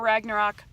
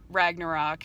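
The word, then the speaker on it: Ragnarök: one of us says Ragnarok cuz I think it's like Ragnarok something like that I you're supposed to like roll your R's it's like really complicated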